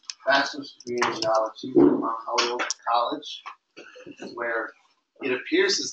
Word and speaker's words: Holyoke: How do you pronounce the college that you went to? Is it Joliet? Holyoke.